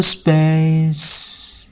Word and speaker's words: space: Câu này thì không khó nhưng nhiều bạn hay quên chữ xì. Đặc biệt là chữ xì của chữ space. Đó. Thì chúng ta hãy cố gắng phát âm đầy đủ. Chúng ta hát chậm trước sau đó sẽ hát nhanh. Câu này sẽ hát thành là make a little space. Các bạn nhớ xì ra.